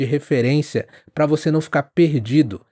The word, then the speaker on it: perdido: para você não ficar perdido. O R varia muito no Brasil, então eu vou falar perdido. É mais na garganta.